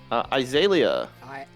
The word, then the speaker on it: Azalea: Azalea. Azalea. Azalea. Azalea. Azalea. Azalea. It is a Ah, motherfucking Azalea. plant. You can pronounce it the way the plant is pronounced.